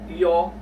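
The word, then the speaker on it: 요: are yo okay and it sounds like the uh you know in the English word yo okay egg yolk yolk yo yo yo okay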